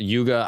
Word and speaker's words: Yuga: as a yug so it's spelled Yuga I think in plural it's yugas and then if you're just speaking about one it's yug so there's something known